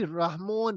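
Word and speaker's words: Rahmon: Basically रहमोन रहमान है, रहमोन इसको इस तरह वहां प्रोनाउंस किया जाता है।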